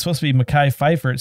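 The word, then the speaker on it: Mekhi Phifer: number of years uh Sharif Atkins uh this is spelled wrong it's supposed to be Makai Pfeiffer it says Makai figure befiger Makai Piper he sounds familiar inaugura Linda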